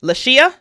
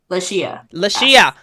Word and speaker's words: Lashea: Oh, I love it, and I've been mispronouncing your name, so I'm gonna self-correct. Lashea. Lashea.